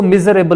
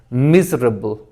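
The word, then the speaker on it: miserable: य sorry miss pronounce इसको मिज मेबल लोग कहते हैं लेकिन यह देखें इसमें एक्चुअली ये मिजबिल होता है यानी इस ए को खत्म कर मिजर बल मिजर बल उसके बाद यह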